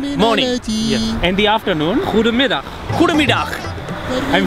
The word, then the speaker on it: Goedemiddag: Goedemiddag. Goedemiddag. I'm saying it right? Yes, you say Goedemiddag. You're pronouncing it super, super good.